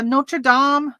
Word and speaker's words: Notre Dame: is not good uh notre dame no is it dom or dame d-a-m-e you would think dane but i think they pronounce it as dom notre dame t-shirts so